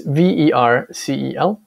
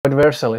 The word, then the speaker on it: Vercel: I think it's the right pronunciation, but it's Vercel.